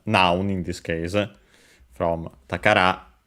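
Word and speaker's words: 宝: in this case from takara treasure accented on the last syllable on its own.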